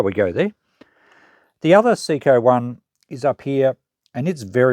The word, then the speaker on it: Seiko: This is a Seiko, or Seiko. I'm going to keep saying Seiko because that's how I've always pronounced it.